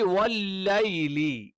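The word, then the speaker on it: والليل: ഇനി വല്ലൈലി യ നാവിന്റെ മധ്യവും മേലെ അണ്ണാക്കിൽ ടച്ച് ചെയ്യുന്ന സമയത്താണ് വല്ലൈലി വല്ലൈലി വല്ലൈലി എന്ന ഓതാറുണ്ട്. ലേ എന്നുള്ള ഉച്ചാരണം എന്ത് ചെയ്യുന്നില്ല അറബിയിലില്ല.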